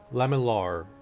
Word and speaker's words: lamellar: I might be pronouncing it wrong, but it's laminar. Lamellar.